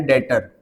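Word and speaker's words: debtor: एक वर्ड होता है डेटर। उस नेम से डिनोट करेंगे। किस नेम से डिनोट करेंगे? डेटर। लिखते समय हम इसको डेप्टर लिख रहे हैं। लेकिन बी क्या होता है?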